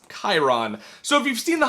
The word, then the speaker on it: Chiron: And yeah, it's spelled Chiron, but it's pronounced Chiron.